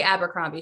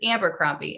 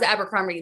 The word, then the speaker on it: Abercrombie: you pronounce it like my mom still can't say abercrombie she says amber grumpy and i'm just avoid